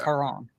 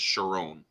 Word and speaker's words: Charon: it actually be pronounced with a k sound in ancient Greek because there's no ch sound in ancient Greek, so it'd be pronounced Charon.